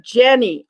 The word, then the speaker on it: Jenny: Not Jeannie, but Jenny.